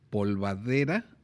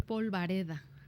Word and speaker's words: polvareda: través de twitter que como es lo correcto decir polvadera o decir polvareda es polvareda polvareda polvareda si yo creo que por la pronunciación no algo a lo mejor parece suena más fácil polvadera pero la verdad es que es polvareda es polvareda sí y debe de ser